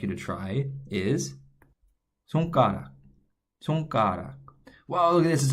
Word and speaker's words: 손가락: Okay, the first syllable, 손, is going to follow this structure. We already saw this S sound up here in bus.